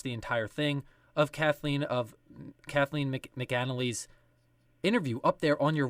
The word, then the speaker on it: McAnally: And that interview, I hope I'm pronouncing her last name correctly, Kathleen, is it McAnally? Yep. McAnally.